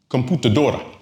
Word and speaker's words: computadora: well, it ends in an N. Stress falls on the second and to the last syllable. So it follows our pattern.